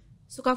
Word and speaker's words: Soca: Tulisannya juga soca sebenarnya, tapi Sama. kita bacanya suka. Iya, karena di double O kan. Double O jadi Suka.